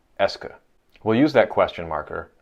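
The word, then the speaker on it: est-ce que: quoi now French has an overt question marker pronounced Eska it's spelling preserves historical facts about how it came to be but now it's a lot easier to just analyze it as being a single word that marks questions that's pronounced ESCA we'll use that question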